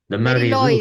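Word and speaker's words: Mari Lwyd: The W is being pronounced as a oo kind of Yeah, sound, exactly.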